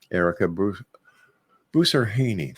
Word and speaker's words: Ericka Boussarhhane: That's when we come back, right here with our very special guest, the psychic diva herself, ERICKA BOUSSARHHANE.